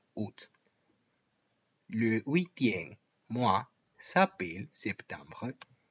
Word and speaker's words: août: pocas palabras en francés, donde no se pronuncia la vocal principal. El mes de agosto nunca será pronunciado août. En ese caso, eliminan siempre la a. Por lo tanto, tened mucho cuidado con la pronunciación de agosto, août.